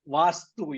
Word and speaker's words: vastu: that word you're saying am I saying it wrong yeah you're you're mispronouncing that's the reason we having good laugh it's all vastu you're right vastu vastu okay okay sorry we all